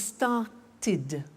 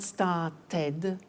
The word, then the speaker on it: started: group is actually easy if a verb ends with a tea or a d then the pronunciation of ed becomes it and in fact it's impossible to pronounce it any other way take an example start it becomes started started not start Ted started ok so want